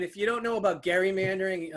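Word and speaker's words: gerrymandering: you don't know about gary mandering um yes it's with a hard g we have it a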